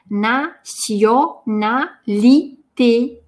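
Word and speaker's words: nationalité: «На», «сьё». Здесь звучание «с». Произносим вместе. «На-сьё-на-ли-те». В конце улыбка.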